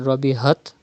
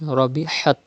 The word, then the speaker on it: ربحت: And Rabihat, it is Ha, pronounced from the middle part of your throat. Do not read Rabihat, but it is Rabihat.